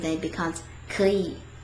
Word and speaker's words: 可以: If we try to say it tone by tone, der tone and der tone, then it becomes 可以. It kind of like requires this extra effort to pronounce that word because like 可以. You see how there's like a little bit difficulty when I try to pronounce it. But if you say it with this little tone change, then it becomes 可以, 可以.